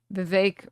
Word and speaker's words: Vivek: Vake rhymes with cake.